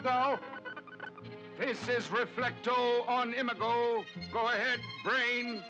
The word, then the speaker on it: Imago: this is reflecto on imigo go ahead brain he says emigo because for all his learning and knowledge the brain never did get the hang of pronouncing Latin and what else would